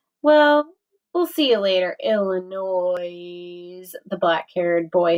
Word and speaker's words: Illinois: The black-haired boy asked, making the last part of the word rhyme with noise, Illinois.